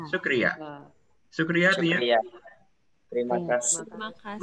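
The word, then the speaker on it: शुक्रिया: Sukriya. Sukriya.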